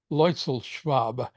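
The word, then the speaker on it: Luetzelschwab: His name is Karl Leuchel-Schwab. Since I speak pretty good German, I can pronounce his name. Leuchel-Schwab.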